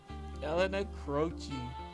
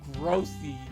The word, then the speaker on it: Elena Croce: Elena Croce. That's how you say it. I thought in the earlier playthrough, I thought her last name was Grossy or Gross or something like that.